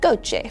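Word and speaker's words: GOCE: steady-state ocean circulation Explorer pronounced goichi for short because the European Space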